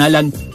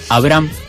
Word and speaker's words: Abraham: mucho para conversar con Tatiana Quispe y con Alan. Lo voy a pronunciar mejor, Abraham. Déjame buscar acá la información. Abraham, ahí digo bien.